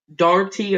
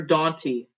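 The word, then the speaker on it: Daugherty: Anyways, this is a nice car for, I gotta pronounce it, JTG Darty or Daunty. Darty Racing. I'll say Darty. I used to say Daunty. I think it's Darty.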